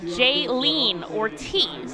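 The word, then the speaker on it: Jhailyn Ortiz: a very electric call up for redding today jaylene ortiz as it's pronounced will join the fights here in baseball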